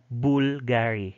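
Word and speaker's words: Bvlgari: were interchangeable that's why v could actually be pronounced as the letter u that's why you call it as bulgari not bulgari y then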